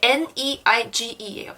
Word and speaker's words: neige: 그리고 EI 같은 경우는 라네즈, 아까 라네즈 화장품 봤었죠? 이게 N-E-I-G-E예요. 스펠링이 영어로 하면. 그래서 neige. 여기도 네에 어이 발음이 있죠.